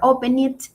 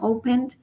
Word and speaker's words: opened: Y en cambio tal vez opened no se pronuncia open it, sino opened.